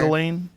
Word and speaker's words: Ghislaine: Ghislaine?